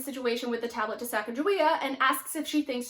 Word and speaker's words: Sacagawea: Larry introduces Sacagawea to Akhman-Ra and Nikki, and Sacagawea corrects him on the pronunciation of her name, saying it's Sacagawea.